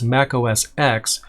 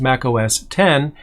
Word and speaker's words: Mac OS X: the operating system as mac os x the x is and has always been a roman numeral for 10 it was supposed to be pronounced mac os 10 but now we're up